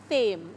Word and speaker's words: Thame: Is it Thame or Tame? Thame, okay.